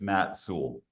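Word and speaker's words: Matt Soule: Um, so our first speaker is Matt Soul. Is that correct pronunciation? Very close. It's Matt Soul. Matt Soul, the founder and CEO of Parallel Systems, a company developing autonomous battery electric rail vehicles.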